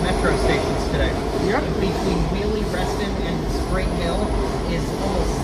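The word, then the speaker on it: Wiehle-Reston: You know, Mildred used to mispronounce Willie Restston and she used to say Wy Rustin before they fixed it.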